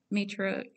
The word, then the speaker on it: Matryoshka: So I believe it's pronounced Matryoshka.